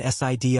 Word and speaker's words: SID: "All right, we're going to take the MI and SID up first," he said, pronouncing the acronyms as Emmy and Sid.